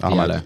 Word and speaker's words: Diallo: Say his name again. The one that scored. What's his name? Diallo. Oh, I thought you said Dalla. Yeah, you definitely said Dalla. No. It's Diallo.